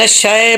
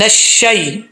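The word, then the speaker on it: الشيطان: یہاں پر لوگ کیا مسٹیک کرتے ہیں، من الشے پڑھ دیتے ہیں. ایسا نہیں کرنا، شے نہیں پڑھنا. شین یا زبر شی، شین. من الشی الرجیم.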